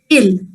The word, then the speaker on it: il: why it sounds like but the actual pronunciation for il is ill and it means he